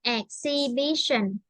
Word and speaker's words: exhibition: exibition exbition yes again exhibition ex yes so here we say we don't pronounce h sound because uh s